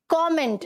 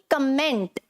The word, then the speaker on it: comment: rate तो वह एव इट इज कॉमेंट ना कि कमेंट राइट डेली यूज को